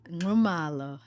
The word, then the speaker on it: Nxumalo: Nxumalo. Wow. Nxumalo. So when they taught you your name as a child, they made that noise and said, you have to say it like this.